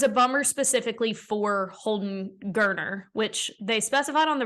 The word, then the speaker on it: Geriner: bummer specifically for Holden Geriner, which they specified on the broadcast that his last name is pronounced like Turner with a G. And I have been saying Geriner, and I apologize. So it's Geriner.